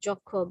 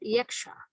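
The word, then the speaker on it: যক্ষ: The poem describes how Jokho, in Bangla we pronounce it Jokho, but in English we call it Yaksha, who had been vanished by his master to a remote region for years.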